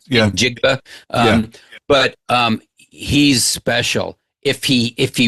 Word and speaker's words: Njigba: But I think in reference to the wide receiver from Seattle, I it's funny, I can't pronounce his last name. Njigba. Yeah. Njigba.